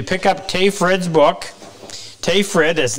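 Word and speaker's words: Tage Frid: And if you pick up Tay Fred's book, Tay Fred, as name, that is spelled T-A-G as in golf, E, last name is spelled F-R-I-D.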